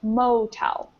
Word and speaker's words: motel: that this word here has the the stress on the first syllable so it rhymes with Hotel it's motel and I see we